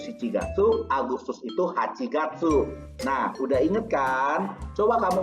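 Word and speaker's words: 八月: dari bulan Juni sampai bulan Agustus sedangkan kepala pengucapannya ada sebab ini rokugatsu shichigatsu hachigatsu Jun itu rokugatsu Juli itu si tidak tuh Agustus itu hachigatsu nah udah Ingatkan Coba kamu ngomong ngomong lagi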